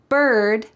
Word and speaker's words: bird: There are 3 words, early, bird, and worm, that use a colored R. So in American English, this R is a strong, hard sound.